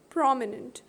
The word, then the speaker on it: prominent: the first one prominent prominent has got three syllables p-r-o-m this is the first syllable i is the second one and n e n t is the third one prominent so this stress is on the first one famous f a is